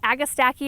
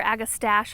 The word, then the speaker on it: Agastache: So we've got a Agastache or Agastache, I've heard it pronounced both ways, also known as hyssop, called Meant to Be Royal Raspberry is the variety.